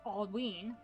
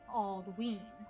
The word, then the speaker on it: Aldwin: Aldwin is pronounced Aldween, Aldween, because of the long vowel sound on the Y.